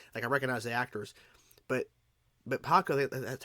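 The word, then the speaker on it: Pakku: But Paku, that's how you pronounce his name, who fought Katara and everything,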